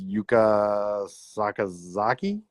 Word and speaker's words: Yuka Sakazaki: Um but yeah, Penelopey Ford is next versus Yuka Sakazaki.